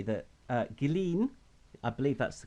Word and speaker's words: Ghislaine: Because the one thing you can say that Ghislaine, I believe that's the correct way to say